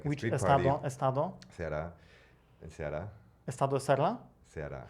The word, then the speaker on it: Ceará: heard Serra. I never heard about state Serra. Ceará. I don't say it well. How do you say it? Ceará.